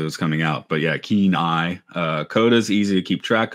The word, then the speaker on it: Kenai: I mispronounced it as Kenai, and I knew I was saying it wrong as it was coming out. But yeah, keen eye.